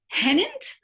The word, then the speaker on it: Hennent: side this is keeper hennent the only reason i pre you might have pronounced it differently but i've spoken to some descendants who say it rhymes with pennant so i always have